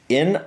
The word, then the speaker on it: Niamh: At least that's how I think it's pronounced. Niamh.